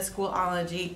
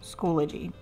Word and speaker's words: Schoology: Hey, editing Miss Har here, and I just want everyone to know that it's not Schoolology, it's Schoology. I know I've been saying it wrong, but it is Schoology, just so y'all know.